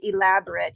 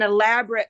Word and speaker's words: elaborate: so confusing sometimes because it's spelled the same but in this case it's pronounced differently and used differently another word another time